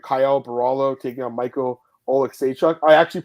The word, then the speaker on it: Alekseeva: It's kind of spelled similarly, but Alekseeva. I got it right, guys. I actually did it right.